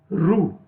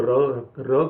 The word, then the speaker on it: ृ: तो यहां पर री, इसको बोलने में खासकर गलती बहुत होती है, कई लोग उसको रू बोलते हैं, परंतु ये रू नहीं है, ये इसको हिंदी में री बोला जाता है।